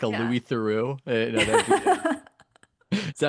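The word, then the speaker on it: Theroux: Well, that I interview high schoolers like a Louis Theu. Is that how you say his name? I have no idea. He said, you said it right. It's Theu. Yeah.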